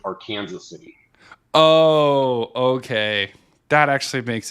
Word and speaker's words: Arkansas City: they simplified that they they pronounce it our Kanas City oh okay that actually